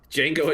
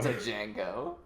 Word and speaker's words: Django: Um and uh she pronounced the D in Django and she would not stop pronouncing the D in Django. Django.